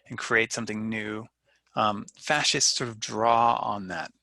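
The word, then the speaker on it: fasces: authority their symbol the fascist um i haven't taken latin in a long time but i believe that's how the word is pronounced in latin fascis f-a-s-c-e-s is a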